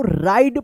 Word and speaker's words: ride: देखिए यहां पे लास्ट में ई है, ई से पहले वोवेल आई आया है, इसमें भी आई आया है, तो इस ई का कोई उच्चारण नहीं हुआ है, लेकिन इस आई का आई उच्चारण हुआ है।